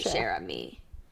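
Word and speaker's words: Cher Ami: an American citizen so I will now pronounce his name properly Sherami.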